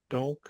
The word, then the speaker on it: donc: She is saying, pardon me, she is saying donk.